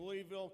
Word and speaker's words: Louisville: born and raised in Louisville Kentucky noticed how I said that that is the actual pronunciation it got corrected Somewhere